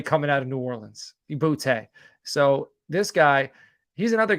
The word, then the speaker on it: Boutte: And that's Kayshon Boutte out of LSU, or Booty, however you want to pronounce it.